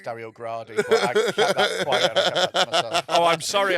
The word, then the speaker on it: Dario Gradi: well that he was calling him Dario Grady and it's Dario gradi I that oh I'm